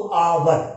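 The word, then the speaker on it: hour: तो देखिए एच, एच क्या है यहाँ पे साइलेंट है, ठीक है। अब देखो ओ के बाद क्या है, ओ के बाद यू है, और जब भी ओ के बाद यू होता है तो उसकी ध्वनि होती है आव, क्या होती है आव। तो देखिए यहाँ पे तो ये आव आ गया क्योंकि एच तो साइलेंट है, ठीक है।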